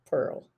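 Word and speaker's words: Perl: in the manuscript but it's spelled p-e-r-l Pearl p-e-r-l yeah p e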